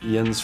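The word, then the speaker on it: yinz: Yins for y'all.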